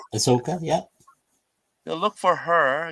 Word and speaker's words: Ahsoka: How do you pronounce her name? Ahsoka.